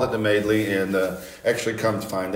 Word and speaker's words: Madeley: Madeley, Madeline, you know, all kinds of stuff, except for Madeley.